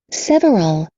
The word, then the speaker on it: several: several, Several. Several. Duas sílabas só, não é several, é several. sign, Sign.